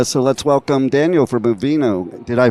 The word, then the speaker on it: Uvenu: But so let's welcome Daniel from Uvenu. Did I pronounce it right? It's Uvenu.